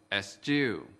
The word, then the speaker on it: eschew: Từ eschew có hai âm tiết. Trọng âm của từ eschew ở âm tiết thứ hai.